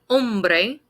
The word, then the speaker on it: hombre: chica el chico el hombre when we pronounce this word the h is silent more often than not